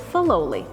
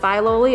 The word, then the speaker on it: Filoli: Fidelity love live and they actually pronounced it fallowly after Fidelity so it depends who you ask if you pronounce it Filoli or philoli you know it depends